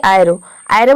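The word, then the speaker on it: arrow: को अ प्रोनाउंस कर रहे हैं, इसको हम प्रोनाउंस करते हैं अराउंड मतलब होता है चारों ओर। उसी तरह से यहाँ पे देखिए एरो में भी आप देख रहे हैं कि ए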